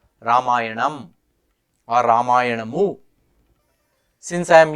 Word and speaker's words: Ramayana: the pronunciation exercise when someone said I shouldn't be saying ramayana rather should say ramayan well if I were speaking in Hindi I would say ramayan because the a Vel